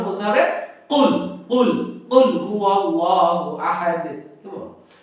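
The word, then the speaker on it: قُلْ: যেমন সূরাতুল ইখলাসে আছে কুল হুয়াল্লাহু আহাদ, বলা যাবে না কুল হুয়াল্লাহু, ছোট কাফ হয়ে যাবে, মানে নরমাল কাফ হয়ে যাবে, এটা বলা যাবে না, বলতে হবে কুল কুল কুল হুয়াল্লাহু আহাদ।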